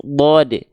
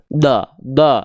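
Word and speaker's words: ضَ: Contohnya misalnya huruf bod. Huruf bod adalah huruf yang tebal. Ketika dia berharokat fathah, teman-teman sekalian, maka dia dibacanya bukan da, tapi bo. Terdengar seperti vokal O.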